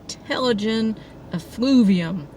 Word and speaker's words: Telogen effluvium: This is how it's spelled, and the internet says it's pronounced Telogen effluvium, which is basically an extended shedding cycle after some extremely stressful thing happened to you, physically, mentally, whatever.